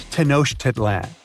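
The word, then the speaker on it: Tenochtitlan: It's Tanoshitlan. And Mayan cities are hard to pronounce too.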